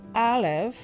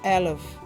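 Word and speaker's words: אלף: So the fool as alf is the first letter and in fact this letter is silent in Hebrew and represents the breath.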